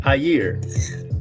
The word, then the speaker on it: air: sign he's like actually the word air is pronounced ayir and it's and it